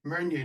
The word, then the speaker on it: Meunier: Uh Meunier, the Meunier Meunier.